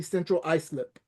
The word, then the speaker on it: Central Islip: So, being raised in Central Islip, did I pronounce it correctly? Central Islip.